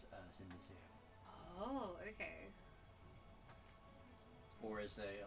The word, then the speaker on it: Cynidicean: It's CYNIDICEAN. So he's cinder like as in actual burnt.